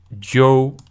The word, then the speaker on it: João: So, João. A bit like French on, for example. Ele se chama João. Ele se chama... Is that João or João?